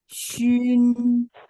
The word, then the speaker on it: xun: Terus XUN bacanya Shun.